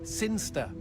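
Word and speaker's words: Cirencester: the boring town of siner sester sinster what it's pronounced sinster how do you you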